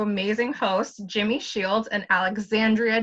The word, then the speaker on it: Alexandria: Just want to make sure that y'all know it's Alexandria. Look at him looking like that. I don't care. I'm saying it. It's a little hard for people to break habits and call me my full 5 syllables.